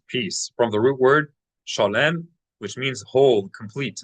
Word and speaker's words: shalom: Well, uh, the pronunciation of the last word, shalom, is how shalom. Everyone says it. Shalom. But, uh, shalom. Zoom for you. So, the emphasis is is slightly slid over, isn't it?